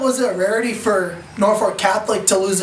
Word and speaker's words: Norfolk Catholic: Norfolk Catholic is actually four syllables. We say it as five syllables. Four syllables, Norfolk Catholic, on the football field.